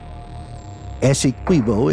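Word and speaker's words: Essequibo: Venezuela's claims Guana is pronounced like d Ana ASO is pronounced with the QI like inquit it's an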